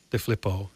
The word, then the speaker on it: DeFilippo: Michelle DeFilippo, did I say it right?